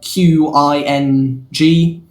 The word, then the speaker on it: Qing: of the king dynasty either ching or ah spelt uh q i n g pronounced qing uh was a very